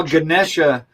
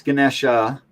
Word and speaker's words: Ganesha: organic um well it's ganesha uh ganesh is the english pronunciation of the same word which is fine you